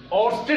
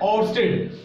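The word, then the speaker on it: Ørsted: ऑर्स्टेड experiment है, ध्यान दीजिएगा क्या नाम है, ऑर्स्टेड। ऑर्स्टेड की स्पेलिंग क्या है, ओ आर एस टी ई डी, ऑर्स्टेड experiment.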